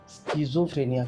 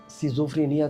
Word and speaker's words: schizophrenia: मैं एक मनोचिकित्सक, सेक्स रोग तथा व्यसन मुक्ति तज्ञ हूँ और आज हम बात करेंगे स्किज़ोफ्रेनिया के बारे में। कोई उसका प्रोनाउंसिएशन सिज़ोफ्रेनिया करके भी करते हैं।